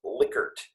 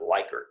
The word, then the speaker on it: Likert: our liquor type questions notice that that is liquored and not likert some people say likert but uh the psychologist that this was named after pronounced his name likert so that's how we're